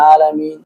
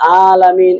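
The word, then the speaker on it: العالمين: এরকম বলে আলহামদুলিল্লাহ আলামিন আলামিন আসলে এরকম না হল আলামিন এজন্য আমাদের এখানে আইনকে আইন উচ্চারণ করতে হবে আলহামদুলিল্লাহি রাব্বিল আলামিন আর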